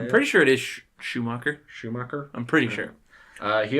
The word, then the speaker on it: Schumacher: I'm pretty sure it is Schumacher.